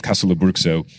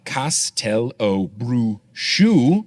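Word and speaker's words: Castelobruxo: Now, this pronunciation apparently conforms to the original Brazilian Portuguese pronunciation.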